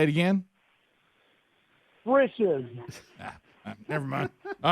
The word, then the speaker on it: Frisch's: Frisch's. See, I hear that and I still don't even know what you're saying. Sounds like you're saying britches, Like but dishes, fritches. Frisch's. Say it again. Frisch's.